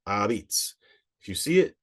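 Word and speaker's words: 'a pizza: was probably and originally we see a apostrophe p i z Za a but pronounced abits if you see it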